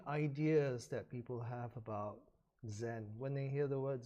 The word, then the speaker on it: Zen: spread to Japan then the Japanese use the same character except they pronounced it Zen so for some because